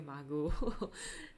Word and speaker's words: Margot: I thought so because it's like a French sounding name. I should not pronounce the T, so I should call you Margot.